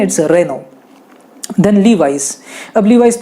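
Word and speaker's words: Renault: फिर Reno, Reno को कई सारे लोग रेनॉल्ट कहते हैं, रेनॉल्ट नहीं है, इट्स रेनो।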